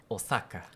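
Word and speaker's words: 大阪: Osaka você já sabe pelo menos corrigir uma delas ficaria Osaka. Tá. Além disso, o O é longo.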